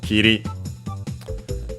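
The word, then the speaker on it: 切り: So Kiri, accent on the last syllable, so regular.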